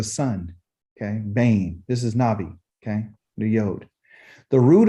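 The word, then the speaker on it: nabi: and this is ugly n a b i okay you pronounce it navi okay all right so there's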